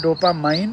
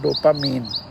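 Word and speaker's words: dopamine: इसका 2 प्रोनाउंसिएशन है, डोपामाइन और डोपामीन, जो भी आप चाहें कर सकते हैं।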